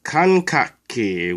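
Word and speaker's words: 感覚器: The first symbol is pronounced kan. The second symbol is pronounced kak. And the third symbol is pronounced ki. If you put it together, it becomes kankaki, which means sensory organ.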